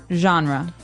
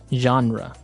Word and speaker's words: genre: We say genre. Genre. Or genre. It kind of sounds French. Is it French? I think it comes from French. Uh it's a g e word. So a genre, it's a soft soft sound.